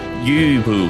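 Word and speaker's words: Lü Bu: don't even try, because the way that you're supposed to pronounce the first U is like the back of your throat is making the E sound and your lips is making the U sound, so it's like Yu Bu.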